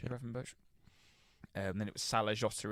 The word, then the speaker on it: Gravenberch: Is that how you pronounce it? Gravenberch. Yeah. Gravenberch.